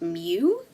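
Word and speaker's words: μ: is going to be John's rent this is pronounced mu and it represents the mean of the data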